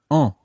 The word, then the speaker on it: en: And that other pronoun is en. En. Now, that's spelled E-N, en.